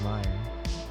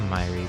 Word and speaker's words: Myri: Brilliant move by Jacob Meyer, or Myri. It's pronounced Myri, but I've been saying Meyer for so long that it's gonna be so hard to change that habit.